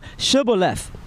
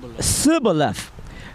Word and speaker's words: Shibboleth: If he said, Nay, then they said unto him, Say now Shibboleth. And he said, Sibboleth, for he could not frame to pronounce it right.